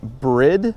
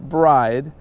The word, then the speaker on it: Bride: people make fun of me for calling it bread but that's actually how you pronounce it everybody pronounce it bride pronounces it bride but it's actually bread alright guys so get it right so Brit